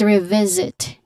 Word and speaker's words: revisit: Take note that the second syllable of the second word there is a letter Z sound there. So there's a buzzing sound there. Let's revisit this later.